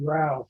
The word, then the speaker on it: growl: And the first AP that had growl in them, James Jacobs, his intro to it said growl rhymes with bow.